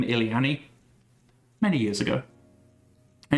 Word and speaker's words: Illiani: It is Illy-Annie. So Illy as in I'm constantly ill, and Annie as in the name of that character from Star Wars. So Illy-Annie. I've also heard it pronounced Illiani. Both are good.